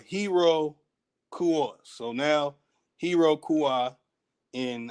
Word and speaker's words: Iroquois: so slide it in that the pronunciation is not o y it's o-a uh hiro kua so now hiro kua